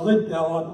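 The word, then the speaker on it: Liddell: true story inspiring story of eddie lindell uh lib dell and this how you pronounce it and during the 1924 olympics he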